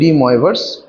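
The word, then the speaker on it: de Moivre: এর উচ্চারণ হচ্ছে ডি ময়েভার্স থিওরেম, ঠিক আছে?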